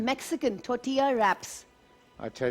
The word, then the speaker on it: tortilla: ले सकता नहीं देखिए बेसिकली लोग कहते हैं टोटला टोटला इट्स लाइक चपाती लेकिन वैसे टोटिया होता है उसका प्रोनंसिएशन एल साइलेंट होता है हां बिल्कुल बिलकुल